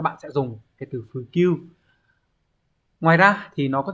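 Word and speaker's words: 普及: Từ này đọc là Fukyu.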